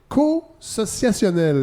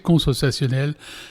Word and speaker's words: consociationnelle: concept de société démocratique coociationnelle est-ce que je le prononce comme il faut c'est le terme en terme bon c'est c'est quand on parle de société démocratique consociationnelle c'est un terme qui est